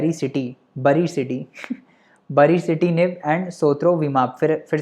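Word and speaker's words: sotrovimab: but anyways, सोत्रोविमाब जो है, सोत्रोविमाब विमल जैसा साउंड कर रहा है सोत्रोविमाब और बैरिसिटिनिब, तो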